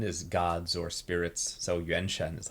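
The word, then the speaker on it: 原神: it sound Japanese it's definitely like anime aesthetic Yen Shen is Yen is origin or like sort of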